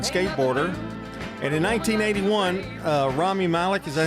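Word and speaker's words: Rami Malek: And in 1981, uh, Rammy Malik, is that how you say it? Malik, I got it right.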